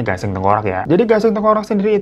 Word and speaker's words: gasiang tangkurak: sana tuh gasing tengkorak atau tulisannya gasiang tangkuorak ya tapi dibacanya gasing tengkorak ya jadi gasing tengkorak